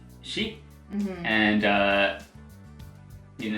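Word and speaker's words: 四: generally in Japanese culture for it's pronounced she and uh you it's different interpretations it represents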